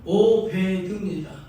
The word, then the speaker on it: 오베드: 오벳. 예. 오벳.이 이 말은 이름은 오베드입니다.